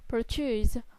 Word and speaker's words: produce: Example: produce, verb or noun. Product, productive, adjective. Stress. Record what the stress forms on a multi-syllable word, especially if the stress changes between word classes.